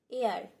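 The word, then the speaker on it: heir: এখানে সঠিক উচ্চারণ হবে এয়ার। হি left an এয়ার।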